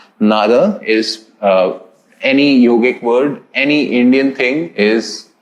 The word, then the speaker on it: yoga: just for universal acceptability and you know uh pronunciation nada is any yogic word any indian thing is having the a